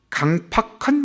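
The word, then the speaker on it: 강퍅함: 강팍한 마음이에요. 이 팍이 아니고 팍입니다.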